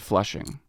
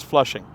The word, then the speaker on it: Flushing: These early settlements were Newtown, Maspeth, Jamaica, and Flushing.